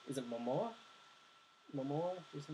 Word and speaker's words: Momoa: I mean, it's is it Momoa? Momoa? Jason Momoa? Yeah. Yeah, that's how you pronounce it.